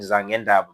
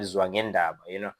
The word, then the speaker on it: Zwangendaba: You are called Zangendaba, but it's obviously the failing of pronunciation of the word Zwangendaba.